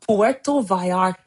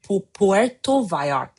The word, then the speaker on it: Puerto Vallarta: This was Puerto Vallarta, PVR. I'm not saying it right. Puerto Vallarta.